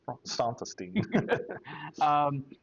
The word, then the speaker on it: Santastein: Pronounced Santastein.